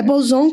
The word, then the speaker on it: Bozon: É Bozon que fala.